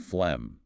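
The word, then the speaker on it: phlegm: complex spelling set is flem pronounced flem. Note the silent g and that short e vowel sound. Flem flem.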